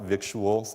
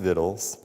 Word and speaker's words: victuals: The viddles, the word actually pronounced viddles, not victuals.